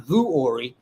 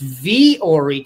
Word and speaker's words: Vuori: It hasn't gotten here yet, but we did find out that it's not Vuori. It's Vori. Despite how it's spelled, this stuff is athletic chic, incredibly versatile and comfortable.